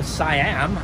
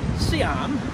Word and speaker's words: Siam: in the states I always thought it was pronounced uh Siam but here they pronounce it Siam and it's their word so the Siam station